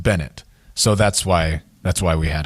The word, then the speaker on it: Bennett: And he said, and my last pick is Ronnie Benet. And I said, Bobby, there's no way that name is not pronounced Bennett.